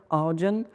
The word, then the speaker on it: Ardian: D'abord, il se prononce très bien en anglais, c'est un peu comme Guardian, Ardian.